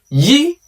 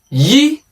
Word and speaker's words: Y: In English, it is pronounced as Y. But in Yoruba, it is pronounced as Yi. Say that again. Yi. Yi.